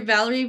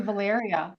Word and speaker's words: Valeria: Valerie, I hope I pronounced your last name correctly. You have, but it's actually Valyria. You mispronounced my first name.